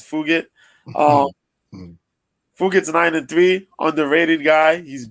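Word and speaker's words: Fugitt: The way it's spelled is like it sounds like F it, but yeah, it's Fugit.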